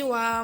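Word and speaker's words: は: Watashi wa maikumira desu. Watashi ini artinya saya. Wa itu merupakan sebuah partikel. Ini memang tulisannya ha, tetapi ini dibacanya wa.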